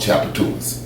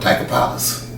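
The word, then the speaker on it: Tchoupitoulas: street in New Orleans called Chapatoulas, and if you spell it, it's an Indian name. If you spell it Tchoupit, and I couldn't put when I first saw the name, I honestly called it Tiger Palace, cause I mean that's what it sounded like.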